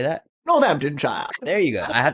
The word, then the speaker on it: Northamptonshire: Northamptonshire.